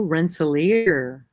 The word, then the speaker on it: Rensselaer: my drink right now oh Rensselaer is the current pronunciation apparently Rensselaer what kind of name